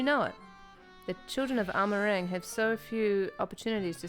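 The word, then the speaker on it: Amh Araeng: And that's just how you say it, Amarang. It's not like... It's not Gaelic like I thought it was.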